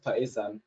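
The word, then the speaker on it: Phaesun: the company faison yeah there's a different pronunciations like fisan faison the correct way would be faisan uh pyson has been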